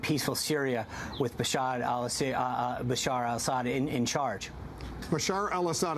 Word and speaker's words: Bashar al-Assad: Syria with Bashad Al Bashar al-Assad in in charge. Bashar al-Assad. I know you've mispronounced his name a few times, uh but uh it's Bashar al-Assad.